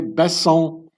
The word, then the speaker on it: Besson: He's of French descent, so that's why I pronounce his name the French way, Besson, Scott Besson.